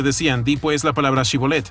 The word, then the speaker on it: Shibolet: Si él respondía no, entonces le decían, di pues la palabra Shibolet. Pero él decía Sibolet porque los efraimitas no podían pronunciarla bien, y de esta forma sabían que era efraimita.